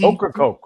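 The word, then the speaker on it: Ocracoke: day over at uh well have do you pronounce it okra Coke okra Coke right okra Coke yeah so that you had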